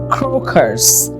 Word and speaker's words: crocus: Pronunciation is crocus. Right pronunciation is crocus right now.